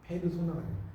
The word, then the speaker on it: 페르소나: 왜 그러냐면 이게 봐요. PERSONA거든요. 정자가 PERSONA인데 영어식으로는 펄슨이 사람이잖아. 맞죠? 펄소나라고 하는 거고, 이걸 이제 이탈리아나 이런 그 독일어나 이런 발음을 하면 그대로 있잖아요. 페르소나가 같은 말이에요.